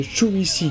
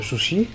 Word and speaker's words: Shuichi: Alors, on y suit l'histoire de Shuichi Kagawa et pas Shushi, hein Non, de Chui, t'as dit. Shuichi. Shuichi, attends, comment il prononce ça? Shuichi, ouais, Shuichi.